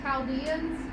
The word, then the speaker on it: Chaldeans: name for the Babylonians is the Chaldeans is actually how you pronounce it the Chaldeans the reason